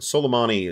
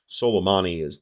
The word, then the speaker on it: Soleimani: Soleimani is the better pronunciation of that. We're from Ohio here. We can pronounce that however we want, but Soleimani is probably the right way to do it.